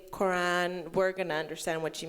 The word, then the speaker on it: Quran: We say Quran with a GH sound, Quran. But you Quran, can say yeah. But if you can't say it, it's okay. If you say Quran, we're gonna understand what you mean.